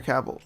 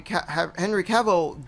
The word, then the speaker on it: Cavill: Yeah, Henry Cavill. I mean, yeah, it's funny you say that because like Henry Cavill did The Witcher because he was a fan,